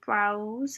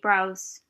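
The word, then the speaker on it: Brause: i purchased was a browse i think it's pronounced brows b is b-r-a-u-s-e and that's a 3-6-1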